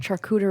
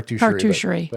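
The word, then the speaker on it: charcuterie: to say that word I've been calling it truck hooter II for so long can you please me I say car - car - Sheree car - Sheree Spelling it's even thank you for pronouncing that for me in the correct way is is it spelled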